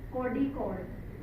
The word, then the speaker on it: Kozhikode: का नाम क्या है कॉजी कोर्ट और यू can also pronounce it कोडी कोर्ड नेक्स्ट कोज कोर्ड आल्सो